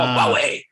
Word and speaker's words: Huawei: or something like that they're like it's called huawei sorry good good thank you thank you i